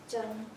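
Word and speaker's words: 筝: It's called zither, and in Chinese language, the pronunciation is zheng.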